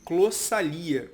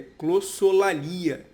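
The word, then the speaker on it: glossolalia: A primeira delas é que eu falei clossalia, quando na verdade a pronúncia correta é clossolalia.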